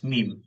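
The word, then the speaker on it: ميم: এখানে মিম উচ্চারণ করতে জিহ্বাও লাগবে না, দাঁতও লাগবে না। বুঝতে পারছেন ভাই? জিহ্বাও লাগবে না, দাঁতও লাগবে না, জাস্ট দুই ঠোঁটে যে শুকনো স্থান আছে এই স্থানকে একত্র করে উচ্চারণ করবেন।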